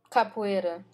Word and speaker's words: capoeira: to obviously their rhythmic people, they would dance capoeira, the martial art. Capoeira. But it's the capoeira. Yeah, okay, how do you pronounce it?